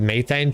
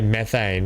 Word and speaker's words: methane: so, yeah, we say methane here in Australia, BC. We don't say methane or whatever it is. Methane. We say methane here. That's just how we pronounce it.